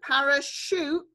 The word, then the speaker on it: parachute: Sh, our new spelling of the sh sound. And then the oo sound is our split digraph. So parachute, the oo sound at the end is the split digraph.